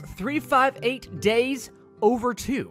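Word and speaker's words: 358/2 Days: move on K Hearts 358 days over two that's how you say it and it is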